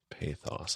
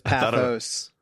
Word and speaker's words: pathos: Both syllables are different than I thought. You thought it was pathos. I thought path. Oh, no. I guess I thought pathos. Pathos.